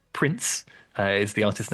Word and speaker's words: Princ: Now, I believe I'm correct in saying that this is pronounced Prince.